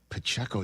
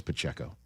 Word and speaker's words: Pacheco: And by the way, is there anybody who says every syllable of one person's name quite like Jim Nance says Pacheco? He lays into that PCO.